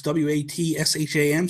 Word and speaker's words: Watsham: It's Watsham, so it's Watsham. I said it wrong.